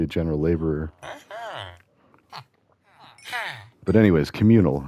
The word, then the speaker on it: CommunL: But anyways, communal, and it's spelled like communal, but just like without a vowel at the end. It's just COMMUNL, I think, and the L is